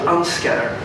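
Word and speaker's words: UNSCEAR: the picture thus a united nations committee called unscare and the pronunciation is chosen with some care the the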